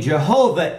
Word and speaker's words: Jehovah: one thing I do agree is the name Jehovah is the correct pronunciation of God so they have that right